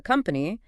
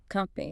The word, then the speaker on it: company: So you really must know the name of the company and use this word correctly. Let's practice it. Just listen. Company. Now repeat this pronunciation very slowly. The stress, the emphasis is on the first part.